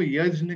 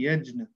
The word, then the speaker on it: यज्ञ: उससे मिलके बना है, इसलिए इसको ज कहा जाता है, और इसलिए हम इसको यज्ञ कहते हैं, यज्ञ नहीं कहते। तो संस्कृत का प्रोनाउंसिएशन है, ये है यज्ञ।